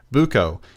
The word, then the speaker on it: Buko: from the philippines and my name is buko it's pronounced boo then co and before i say